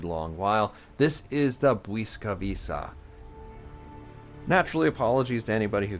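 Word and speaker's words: Błyskawica: stroke in English and is apparently pronounced like a w meanwhile the W is pronounced more like V and the C is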